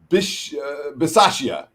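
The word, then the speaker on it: Bisaccia: for telling me how to say it right bish basashia is the raiders head coach uh and of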